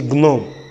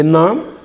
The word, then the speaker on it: gnome: When G, letter G occurs before letter N, then you don't start pronouncing the word from G, you start pronouncing the word from N. And that is why you have nam. We don't say gnome. We say nam, we say nash, we say nor, and we say nomish. So these sounds have G starting them, coming before N. So it starts the pronunciation or the realization from letter N, which means that the